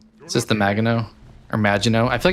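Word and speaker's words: Maginot: Is this the Mago or Mago? I feel like I mispronounced that ship like for the first half my reviews. The Magino as in magic.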